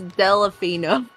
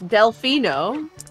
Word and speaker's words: Delfino: weird on purpose huh there's no e after the L as I said I was pronouncing it weird I was pronouncing it wrong on purpose now you're pronoun you're you're sounding it out correctly that time it's Delfino like it's spelled Delfino but I always thought